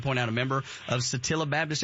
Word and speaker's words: Satilla: And I would like to point out a member of Satilla Baptist. Is it pronounced Satilla? Yes, sir.